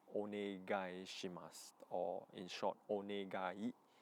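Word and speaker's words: お願い: The third word that I think everyone should learn or should remember is onegai shimasu, or in short, onegai, onegai, like 4 syllables.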